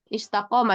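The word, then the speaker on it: استقامة: Istiqomah ini istiqamah bacanya.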